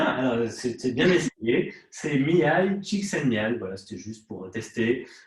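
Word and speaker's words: Mihály Csíkszentmihályi: Parce que j'ai toujours rêvé de savoir le prononcer, mais j'y arrive pas. Ah, plus facilement, plus lentement. Mihai Csikszentmihalyi.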